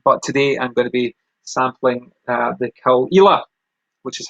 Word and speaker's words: Caol Ila: But today I'm going to be sampling the Caol Ila, which is how it's pronounced, Caol Ila.